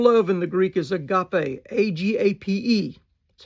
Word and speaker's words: agape: The normal word for love in the Greek is agape, A-G-A-P-E. That's how we spell it in English.